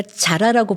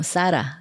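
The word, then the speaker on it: Zara: 그리고 어, 우리가 자라라고 발음하죠. 뭐 사라. 예. 스페인 상표인데 네네.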